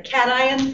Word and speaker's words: cation: Cations, and that's how that's pronounced, cation. I know it looks like it should be cation, but it isn't.